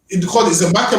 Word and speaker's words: Xaymaca: It's called Zamaka with an X. So they used to spell it Xaymaca, and they called it the land of wood and water.